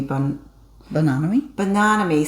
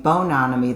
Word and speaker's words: Bananami: So I figured out I was putting the accent on the wrong syllable. When I start out saying bononomy, that throws me off, but it's the second syllable, bananami, and then so that's what I figured out.